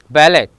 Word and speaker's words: ballet: If a French word ends in ET, ballet, buffet and gourmet, here T is remain silent.